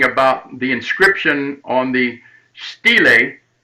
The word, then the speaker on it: stele: and i'm speaking about the inscription on the stele s-t-e-l-e stele is how it's pronounced uh and there's a picture of it